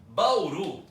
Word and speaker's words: Bauru: torne um monossílabo Tonico Bauru tem duas sílabas é um desse ano só que a última sílaba é forte Então ela é uma oxítona e quando nós falamos